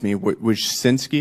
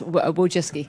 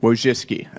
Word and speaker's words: Wojcicki: Miss Wojcinski, is that how you pronounce it? Yes, Wojcicki. Wojcicki.